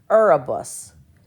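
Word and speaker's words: Erebus: one out over here you see it arabus arabus that's not one we hear a whole lot arabus so the stress is on that first syllable so that's your louder syllable arabus okay now the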